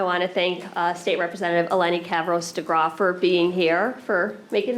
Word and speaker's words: Eleni Kavros-DeGraw: I want to thank State Representative Eleni Kavros-DeGraw for being here, for making the trek to New Britain to join us.